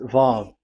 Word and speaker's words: Vav: So it's V as in Vogue. So it's really V. How to read Vogue? So the word, the shape Vav is really pronounced V, like Vogue. That is it, pronunciation. So here in this side, it's pronunciation. This is pronunciation. So according to the old Hebrew word today, those who, the owner of the words, I mean, so it's a V. So don't change it into W.